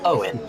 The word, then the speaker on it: Eoin: And yes, Jake Denahan there reminding us that Eoin, as we said, is indeed pronounced Owen.